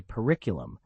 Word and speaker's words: periculum: When you say periculum, the M must be sharp and the first syllable quick.